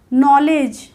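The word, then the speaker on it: knowledge: यानी कि गलत होगा नॉलेज एन से पहले के आया तो यह साइलेंट हो गया तो यहां से पढ़ना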